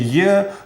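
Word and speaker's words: е: samo jak polskie d czytamy w języku rosyjskim je przy ZMA pomimo tego że litera ta pisze się absolutnie tak samo jak Polska litera e ale wymawia się już troszeczkę inaczej tak naprawdę rosyjskie je to jest połączenie naszych polskich dwóch liter i e albo i e i właściwie Rosjanie tylko tak czytają zawsze literę je jo Jolka joyk no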